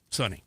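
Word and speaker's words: Sonny: Sunny is spelled just like you would expect. S-O-N-N-Y. Sunny.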